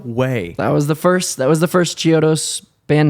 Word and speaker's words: Chiodos: What's the worst pronunciation of Chiodos you've ever heard? All of them that aren't right. I don't know. Chiodos. Chiodos. I've heard like people. Chiodos. Yeah, Chiodos. Chiodos. Cheetos. Cheetos a lot.